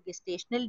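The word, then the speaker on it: gestational: जो है वो भी जेस्टेशनल डायबिटीज, इस बार इसको गेस्टेशनल डायबिटीज भी प्रोनाउंस करते हैं, उससे भी बचेगी, और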